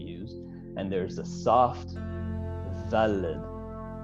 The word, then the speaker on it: Daled: And Daled is also lost in many communities, in most communities, but there's a hard Daled, which is Daled, which is what we use, and there's a soft Daled.